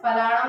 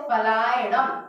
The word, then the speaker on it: फलायणम: वैचारित्र फलाणम नहीं है, वो फलायणम, या का उच्चारण करना है।